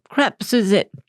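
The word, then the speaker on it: crêpe Suzette: So the gentleman brought me the menu, and I pointed to crepe Suzettes. But I wasn't sure if I was saying it correctly. So I just pointed and I said, I'm not sure how to pronounce this. And he said, oh, crap Suzette.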